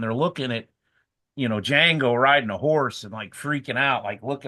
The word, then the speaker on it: Django: Unchained Django dang well I can't say it Jango Jango Jango and Silent he says is silent it's a [ __